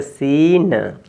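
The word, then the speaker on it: scene: यहां पे लिखा है और इसमें सी साइलेंट हो जाएगा सी का उच्चारण नहीं होगा तो सस पे बड़ी ई की मात्रा तो सीन और यहां पे ई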